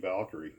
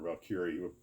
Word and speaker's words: Valkyrie: And the other thing was a Glue Trooper asked me about the XB-70 Valkyrie, or Valkyrie. I've heard it pronounced both ways, but I think it's Valkyrie.